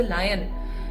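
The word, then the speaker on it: lion: पे टाइगर भी है, लायन है, not tiger, there is अ लॉयन, है ना, there is अ लायन। लॉयन, बचपन में भी लॉयन ही बोलती थी मैं, बल्कि इसका सही प्रोनाउंसिएशन है लायन।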